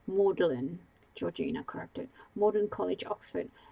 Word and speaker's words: Magdalene: A graduate of the Magdalene College. It's pronounced Malin Georgina corrected.